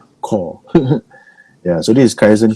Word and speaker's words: Corps: How do you pronounce CORPS? Core.